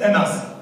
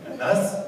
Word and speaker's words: Anas: Et je m'appelle Anas. Anas, attention, ça s'écrit UN, plus loin, AS.